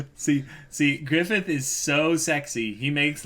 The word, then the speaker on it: Griffith: syllables. It's Griffith.